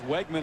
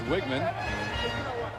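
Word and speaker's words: Wiegmann: He was Wegman until recently, but guess the family pronunciation is Wiggman.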